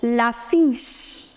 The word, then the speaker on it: l'affiche: Poster is known as l'affiche. The pronunciation of the combination CH in French is known as CH.